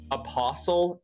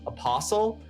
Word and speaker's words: apostle: And I didn't know that the t was silent and that it's pronounced apostle.